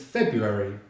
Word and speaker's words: February: So the second month is February. Now there's a few different ways to pronounce February, but I'm going to use the easiest and perhaps the most common by not pronouncing the first letter R.